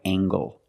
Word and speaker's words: angle: this is a right angle use the nasal plus the hard G angle angle this is a right